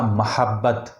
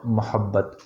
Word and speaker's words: محبت: کو پڑھا جائے گا۔ تو صحیح لفظ جو صحیح تلفظ ہے وہ ہے اس کا محبت، ناٹ محبت۔ لیکن ہمیں محبت اتنی